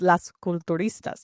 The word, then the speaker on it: Las Culturistas: I have to say it like a white girl to make it sound accurate, but it's Las Culturistas, technically.